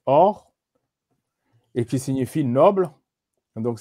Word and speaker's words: Horus: Ensuite, plus bas, vous avez le faucon, Horus, qui se prononce Or, et qui signifie noble, donc c'est le titre des chefs.